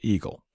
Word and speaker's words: EGLE: and energy which is abbreviated Egle and pronounced Eagle this chart made famous